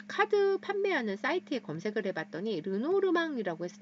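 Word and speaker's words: Lenormand: 카드를 만드신 분이 되겠습니다 근데 이게 프랑스 식으로 발음을 하면 루노 르망 인데요 어 영어식으로 만약에 발음을 하신다면 어 르노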